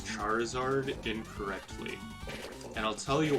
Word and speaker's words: Charizard: with charmander and charmeleon we pronounce the reptile portion of the name as we would the actual reptile you know you've got